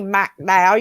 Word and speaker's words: McDowell: And if you don't say McDowell, you ain't saying it right.